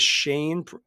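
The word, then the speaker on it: Chyne: a guy I think his name is Shane but it's spelled c h y NE Shane gitsham um slick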